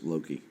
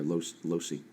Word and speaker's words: loci: And you also notice that you are not on the back of the Genius Loki. Or Loci. Genius Loci. I've been pronouncing it wrong.